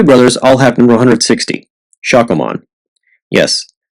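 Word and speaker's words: Shakkoumon: The Play brothers all have number 160, Shakomon. Yes, Shakomon is the official pronunciation.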